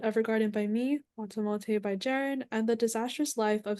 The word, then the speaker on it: Jaron: in Japan: Violet Evergarden by me, Watamote by Jaren, and The Disastrous Life of Saiki K by Mikey.